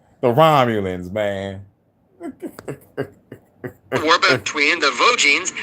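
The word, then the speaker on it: Romulans: said Ramoleians. This is how you know a using AI. I'm like, man, just come on, man. You could read from the script and say it yourself. Talk about Ramulians. It's the Romulons man.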